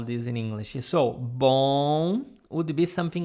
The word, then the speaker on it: bom: This is the sound, but you have to force your nose to pronounce this. Let me let me, how would I spell this in English? So, bom would be something like this.